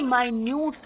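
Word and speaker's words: minute: okay और यह मिनट यह मिनट्स नहीं है यह माइन्यूट है माइन्यूट येय एडजेक्टिव फॉर्म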